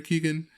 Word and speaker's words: Keoghan: Brendan Gleeson and Barry Keoghan. Keoghan, that's how you say it.